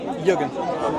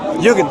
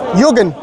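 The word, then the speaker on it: Jürgen: Jurgen. Jugen. Jurgen. Okay. How do you spell it?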